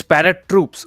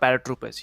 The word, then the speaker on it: ParaTroops: he please para troop okay it's parrot troops okay okay I'm sorry but is it is it paratroops let me just say yeah it's parrot troops it's not paratroopers yep I think I